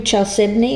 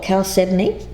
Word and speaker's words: chalcedony: When we speak of blue chalcedony or chalcedony, depending on whether you're English or American here, this pronunciation, this card speaks of slowing down.